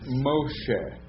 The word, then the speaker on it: Moshe: there's the dong there that means Egypt and Moshe M Moses you say that again Moshe now